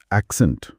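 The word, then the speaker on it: accent: एक्सेंट। हाँ, जोर पहले सिलेबल एक् पर है, लेकिन प्रेफर में जोर दूसरे सिलेबल फर पर है।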